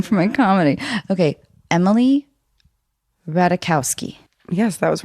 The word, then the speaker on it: Ratajkowski: my comedy okay emily ratakowski yes that was right oh thanks michael sherman told me to not pronounce the j yeah okay well then